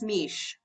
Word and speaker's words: Mish: It's Mish. Mish, okay. Hi. Yeah. Hello. Rhymes with quiche.